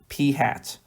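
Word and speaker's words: p̂: that's going to be P hats where if you haven't seen this notation before that's how this is pronounced P hat and the way we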